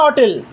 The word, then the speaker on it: hotel: Another an hotel here an hotel hatch will be silent.